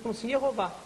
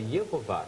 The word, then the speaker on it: Jeová: sabendo gutural os judeus jehová Ou seja a pronuncia a pronúncia exata que eles pronunciavam era Jeová eraa justamente isso Porém